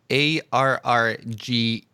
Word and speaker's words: Arrge: And for those of you who don't know, you spelled it ARRGE, kind of like RG, but you pronounce it Arrge.